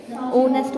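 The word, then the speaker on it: honest: ये नेस्ट बोला जाएगा यहां पे एच होगा हमारा साइलेंट तो क्या बोला जाएगा हमारा ये ऑनेस्ट बोला जाएगा ठीक है तो साउंड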